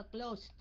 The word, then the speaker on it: closed: Ông đọc là T phải không? Phải không? Ông nói là closed.